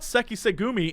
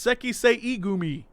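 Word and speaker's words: Sekiseigumi: No, it's not Sekisegumi, it's Sekisei Gumi. It's too many syllables.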